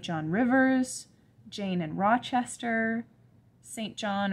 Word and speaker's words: St John: rivers jane and rochester saint john or cinjin as it's sometimes pronounced and mr brocklehurst who